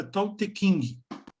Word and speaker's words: Tao Te Ching: O nome correto é Tao Te Ching. Apesar de se escrever com XI, X não, CHI, né? Mas lê-se Tao Te Ching, como se fosse King de rei, né?